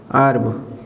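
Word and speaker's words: herb: भी एच के बाद ई है तो एच साइलेंट कर देंगे ना तो ये क्या हो गया अर्ब और ये क्या हो गया यहां भी एच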